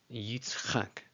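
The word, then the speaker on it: יִצְחָק: When I was first learning these, I was like, I could never get just the tzadi and the chet sound back to back. It was so weird for me. Yitzchak.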